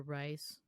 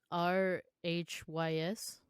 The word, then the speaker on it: Rhys: disappearance john joseph and reece or rice i don't know how to pronounce it how you stole it r-h-y-s it's rhys it's rhys uh-huh i was saying rice the way you're like